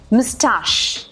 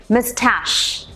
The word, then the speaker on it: moustache: Okay, so British pronunciation is मुस्टाश, मुस्टाश, म अध स, मुस्टाश। American pronunciation is mustache.